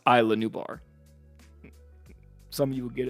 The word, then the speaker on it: Isla Nublar: in the next video oh inside is la new bars pronounced Isla Nublar some of you would